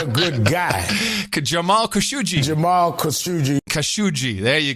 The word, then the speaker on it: Khashoggi: We have the official pronunciation of Khashoggi. You said Jamal Khashoggi was not a good guy. Jamal Khashoggi.